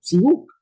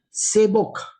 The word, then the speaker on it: SEBoK: Hay cosas que, por ejemplo, el SEBOK, algunos le llaman CBOOK, ¿no? Y se ha quedado con ese asunto de CBOOK, porque en inglés se debe pronunciar algo así, algo similar, CBOOK. Pero algunos colegas le dicen CBOK, CBOK. O sea, como es una abreviación y está puesta en un texto en español, lo leen como si fuera una palabra, una expresión.